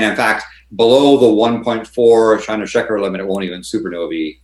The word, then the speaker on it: Chandrasekhar: But is it Shandeskar? Is that how you pronounce it? Shandeskar? Chandrasekhar. Yeah, Chandrasekhar. The Chandrasekhar limit would be for electron degenerate pressure.